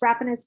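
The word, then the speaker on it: Rapanos: states according to the rappanose decision i think i'm pronouncing that correctly upon us rappanos decision it's wrapping us the u.s and the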